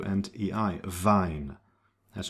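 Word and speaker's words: Wein: The combination ei is pronounced like I, right? When you write that together, it's I as in the words mine, dine, hi, or vine.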